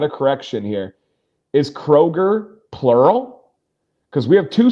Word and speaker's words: Kroger: says, "I went to Kroger's in Michigan." Oh, so that one was plural. Kroger, no s. Okay. Yeah. So there's no s. But so many people say Kroger's and so many people say Myyers.